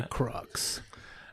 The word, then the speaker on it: Crux: What the Crux? My personal favorite is a friend of ours said it should be pronounced crooks. Crux.